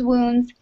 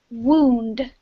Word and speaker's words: wound: bad s situation worse okay to lick one's wounds is uh to slowly recover after a after being defeated or to make to feel ashamed or unhappy okay um and the pronunciation is wound can you repeat please wound wound perfect yes